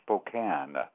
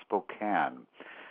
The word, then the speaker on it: Spokane: for your future information, the town is called Spokane. Ah, Spokane. Thank you very much for correcting me on that. It looks like it's Spokane, but it's actually pronounced Spokane.